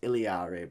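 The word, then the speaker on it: Illari: It's pronounced Iliari, but would you rather call it Alari or Iliari? Ilari.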